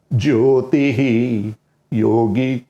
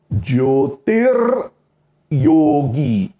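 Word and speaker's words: ज्योतिर्योगी: अच्छा, कुछ लोग है ना, ये 2 भाग करने के बदले ये बोलते हैं कि हम तो ज्योतिर योगी इस तरह से उच्चारण करेंगे। अर्थात कैसे, मैं आपको करके बताता हूं। तत्र चांद्रमसम ज्योतिर योगी प्राप्य निवर्तते, इस तरह ज्योतिर और योगी इस तरह करके उच्चारण करेंगे, ऐसा कुछ लोग बोलते हैं। वो भी सही है।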